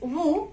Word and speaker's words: vous: S it is vous, not vous. It's vous, you will not pronounce S at the end of word, so it will be you. Vous means you in English, right?